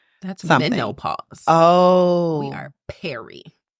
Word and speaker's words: peri: menopause oh we are Perry how do you spell that p e r i and then the menopause so it's Perry so that's pre basically